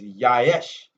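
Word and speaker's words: יֵשׁ: here is yesh but pronounced properly is yaish y-a-y-s-h they said the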